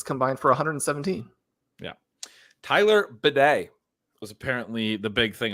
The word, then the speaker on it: Bidet: He clarified that his name is pronounced bidet, like the bathroom thing. I like the way that I say it. I'm gonna call him Beatty from now on.